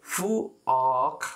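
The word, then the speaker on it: 부엌: त्यसो भने यसलाई फु अख भन्नु पऱ्यो, कसरी फु अख फु फु अ अनि आदि क फु अख फु अख भनेर यसलाई उच्चारण गर्नु पऱ्यो फु अ फु अख भनेर उच्चारण गर्नुपर्यो फक भनेको चाहिँ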